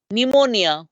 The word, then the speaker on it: pneumonia: this is the basili pneumonia we drop the P you all know pneumonia we never use the P pronounce this n as though the P was abset but it's p is